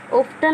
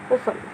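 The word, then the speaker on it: often: अंत में है, और ये रूल है कि किसी वर्ड के अंत में टी एन इकट्ठा आए, ये तीनों वर्ड, तो ये टी जो है हमेशा साइलेंट रहेगा, चुप रहेगा, तो ऑफ्टन नहीं होगा, ये होगा ओफन, यानी कि अक्सर।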